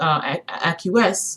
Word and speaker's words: acquiesce: Okay, and when people continuously acquiesce, am I saying it correctly?